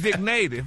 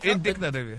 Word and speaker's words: indicative: It's indignative, yes. Indicative. Okay, but there's no N in there. I know it ain't no damn N. But you got to pronounce indicative.